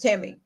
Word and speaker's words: Temi: Yeah, my name is Temi, and the last name. So it is pronounced Tammy.